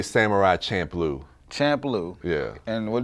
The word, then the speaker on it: Champloo: um is called Samurai Champloo oh yeah my shampoo oh yeah that's good that was that was